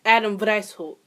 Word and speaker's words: Adam Weishaupt: Adam White. Oh, Lord. Is that German? Wow, it is German. Wow, I should probably fucking know that. So, the founder was actually Adam Weishaupt.